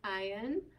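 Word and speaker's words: ע: Ayin. And what sound does ayin make? A. So ayin is actually one of our silent letters, especially if he has no vowel, he'll be silent, okay?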